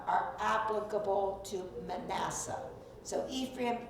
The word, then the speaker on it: Ephraim: So Ephraim, E-P-H-R-A-I-M. And actually it's Ephraim. But our English pronunciation is Ephraim, and that's what most people call it.